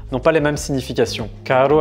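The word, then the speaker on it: caro: Carro avec un seul R signifie cher et carro avec deux R signifie voiture.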